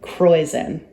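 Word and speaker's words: Kräusen: That in brewing is called, I taught you this word already, rhymes with poison. I forget. Croison.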